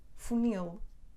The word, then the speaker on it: funil: o quintal ou funil não porque acabam com ele o acento recai na última sílaba portanto dizemos animal quintal funil da Claro e as